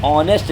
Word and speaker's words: honest: एन ऑनेस्ट मैन है, N honourable, ये एच यहाँ पर साइलेंट होते हैं, एच यहाँ पर साइलेंट है और एच साइलेंट है, एन ईयर, ठीक है।